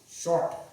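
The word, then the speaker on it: شرط: How do we pronounce this? S-H-A-R-T. Short, right? This would be, that would be the pronunciation, and that would be the phonetic.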